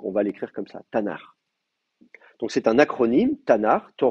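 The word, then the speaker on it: Tanakh: de prononcer comme ça on va mettre des petites voyelles entre les deux t on va mettre un a et le le le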